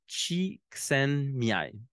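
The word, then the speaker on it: Csikszentmihalyi: puis dans le fond on prononce son nom de cette façonlà Chen Miai bon donc c'est c'est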